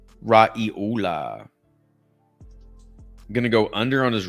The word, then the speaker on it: Raiola: Dylan Raiola. Yeah, that's how you say it, Raiola. Raiola.